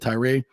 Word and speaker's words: Tyra: The FSU's Board of Trustees is set to name Vince Tyra, or Tyra, I believe you pronounce it Tyra, as their new athletic director.